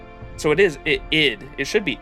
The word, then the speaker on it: Id: it should I hear It rhymes with kid, lid, or rid. So, it is id. It should be id, wouldn't it?